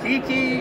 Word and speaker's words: Kiki: all right absolutely now how do you say this next one well it's been called Kiki and Q Kiki I think is the most correct okay okay and this